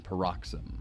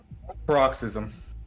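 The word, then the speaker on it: paroxysm: She could feel her chest convulsing, gripped with a sudden peroxim, which brought tears to her eyes. Is that the right pronunciation, Clay? Peroxim. Peroxism. peroxism. Thank you.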